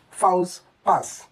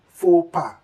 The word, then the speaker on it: faux pas: Well, it is wrong if you say fouls pass, fouls pass. Kindly pronounce this simply as faux pas, faux pas.